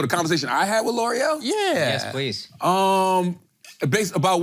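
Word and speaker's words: L'Oréal: Okay, L'Oreal.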